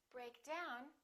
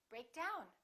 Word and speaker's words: break down: we say pick up break down we say break down emphasizing the second element sometimes the phrasal verb